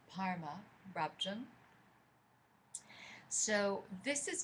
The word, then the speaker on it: Barma: Say Barma, Rabjung. Actually, my bad pronunciation. Parma. It's the pronunciation, the Tibetan, so it's transliterated as B-A-R-M-A, but it's pronounced more like so it's Parma, Rabjung.